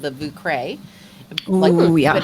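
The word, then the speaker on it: Vieux Carré: of my splurge drink, and it's called the Vucre. Ooh, yeah. But it's spelled V as in Via, IEUX and then CARRE.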